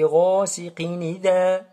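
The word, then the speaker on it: غَاسِقٍ إِذَا: Alors regardez ici, wa min sharri ghasiqin idha. Ici, il y a le mot idha. On passe directement de qaf jusqu'à dhal. On ne prononce pas le hamza ici.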